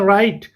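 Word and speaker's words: write: हम क्या प्रोनाउंस करते हैं? हम कहते हैं राइट, राइट।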